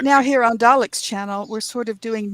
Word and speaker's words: Dalek: It's Dalek.